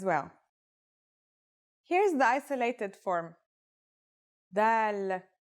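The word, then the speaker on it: ذال: This letter is like the th sound in the word this.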